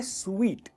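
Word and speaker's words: suite: जो first part है ना वो स्ट्रेस होता है, टेबल, टेबल। दोस्तों ये जो वर्ड जुड़ा है ना वो होटल से जुड़ा है। क्या कहेंगे इसे? सूट, क्योंकि स्पेलिंग ही वैसी है। इसे कहते हैं स्वीट।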